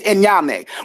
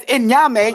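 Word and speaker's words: Onyame: out Amma and then be like, no, it's Enyame. He's a damn fool on the Ashanti culture and don't know anything. And I don't respect him or believe he's from the Ashanti because Enyame, I didn't mispronounce it.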